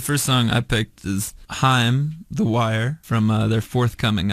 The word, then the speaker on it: Haim: a lot of us made the mistake of saying Haim, as in Corey Haim, but we learned very quickly that it was Haim. I mean, it's the same last name, but I guess everybody pronounces it differently.